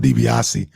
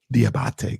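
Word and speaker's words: Diabaté: I called him DiBiase. There's not even an S in his name, and I called him DiBiase. Diabate.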